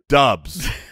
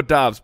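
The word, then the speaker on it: Doubs: all these prospects and it's it's romeo but dubs no no dang romeo dobbs but it's spelled d-o-u and it was like romeo dubs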